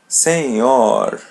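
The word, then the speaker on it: senhor: Letter N is a light N and letter H is pronounced as Y. Seor.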